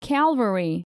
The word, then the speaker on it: calvary: families okay let's start number one cavalry and calvary people often confuse cavalry armed forces on horseback with calvary an experience of extreme suffering especially mental suffering